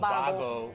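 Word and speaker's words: Vago: Bago, which actually is spelled with a V, not a B. It's Bago. Right, but that shows my Spanish, right?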